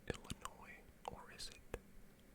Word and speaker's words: Illinois: Illinois produces up to 5 times more pumpkins than any other state. Interesting. And I think Illinois actually does have a lot of farmland, so that might not be that crazy.